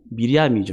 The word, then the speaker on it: 미리암: 이 마리아라는 이름은 구약에 표현된 이름은 마리아를 그 히브리식으로 발음하면 미리암이죠.